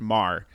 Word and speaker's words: Maher: Yeah, my last name is pronounced Mar. So Mar. I think you said it. You Mar.